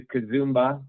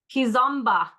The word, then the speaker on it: Kizomba: And then on Tuesday we're going to do Kazumba. I'm always saying it wrong. Kizomba.